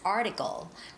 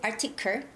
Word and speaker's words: article: the words like latest article latest article so it's okay to say articur atiku but you know it's more natural to say article article right and the words sportsmanship